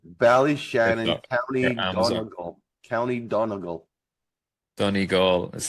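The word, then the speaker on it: Donegal: of that's right Val Shannon County County Donal Donal that's how you pronounce that Donal okay yeah and goway goway is most Americans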